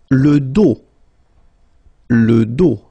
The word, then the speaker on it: dos: Le pied, le dos, final S not pronounced, okay, le dos, le cou, le bras, same thing here, final S not pronounced, le bras.